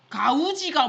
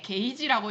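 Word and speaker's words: gauge: 근데 게이지 같이 안 생겨서 애들이 이거 나올 때마다 의심해요. 가우지가 뭐예요? 맨날 이렇게 물어봐요. 아, 근데 그게 그렇게 생겼는데 게이지라고 읽어야 돼.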